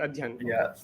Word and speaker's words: Adhyan: Okay, so the other Y is silent. Adhyan.